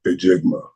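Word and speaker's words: Njigba: Well, I was saying that Jackson Smith Enigma. Boy, they were killing it. I don't know how to pronounce it. Ajigba. Jackson Smith Ajigba. That's how you say it.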